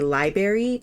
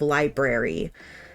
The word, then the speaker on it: library: like like so many people who say library instead of library it's like it's spelled with the r in front of the a why would it not be pronounced it is it is